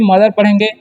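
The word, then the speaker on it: mother: मदर नहीं पढ़ते हैं यहां पर ओ का उच्चारण अ होता है इसलिए मदर पढ़ेंगे इसे पढ़ेंगे हम लोग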